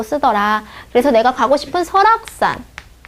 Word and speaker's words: 설악: 그래서 내가 가고 싶은 설악산. 발음이 어떻게 나요? 설악 이렇게 나죠. 그러면 서니까 S-E-O 그 다음에 락 모음 앞이죠. 그러니까 락 R 쓰고 이게 끝에 가는 거죠. 그러니까 K 설악 이렇게 된다는 거죠.